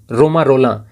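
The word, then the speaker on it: Romain Rolland: One with universal being, रोमा रोलां। हालांकि देखिए spelling इस प्रकार से है, लेकिन फ्रेंच में उच्चारण ऐसा ही होता है।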